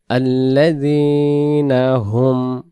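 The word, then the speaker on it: الَّذِينَ: মুসাল্লিন মুসাল্লিন আসিনের বেলায় সিন জবর সা তারপরে আল্লাজনাহুম আল্লাজনা আলিফে জবর নাই।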